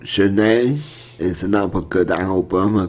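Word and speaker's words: Zhané: Okay, in at number 6 is Zhane, pronounced Zhane.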